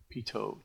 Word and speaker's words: pitot: for HVAC is called pitot tube second T is silent and this is a